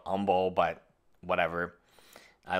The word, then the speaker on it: Humble: I call it Humble. I know the H is silent and it's called Humble, but whatever.